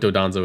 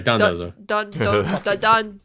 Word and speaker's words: Dondozo: we should explain what Dodonzo is. Yes, please. Or Dondozo. because Sorry, Dondozo. It's Michael dude. said it wrong.